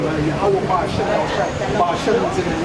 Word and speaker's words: Yahweh: It's not like Yeshua, but you know how This is Yahweh. That's the correct pronunciation. There's no other names. It's Yahweh.